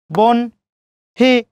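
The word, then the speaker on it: বহ্নি: বন হি, চিহ্ন কি হবে?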